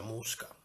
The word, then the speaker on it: musca: Cioè, per esempio, se io prendo la parola mosca in italiano e in siciliano la devo pronunciare, io so che la parola mosca in siciliano si pronuncia musca.